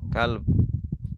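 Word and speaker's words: كلب: Kalb bukan qalb ya. Kalau qalb kalbati pakai qof beda.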